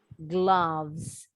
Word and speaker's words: gloves: Also in the word dreams, fans, sings, wears gloves. Bunyi O-nya seperti A. Gloves.